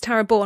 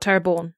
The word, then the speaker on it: Taraborn: Oh, it's Taraborn, not Taraborn. Yeah. Cool, I've been saying it wrong.